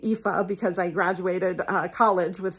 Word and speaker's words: Aoife: Set in Ireland, which I'm, you know, very fond of, I only know how to pronounce the name Aoife because I graduated college with a young woman who named her daughter Aoife.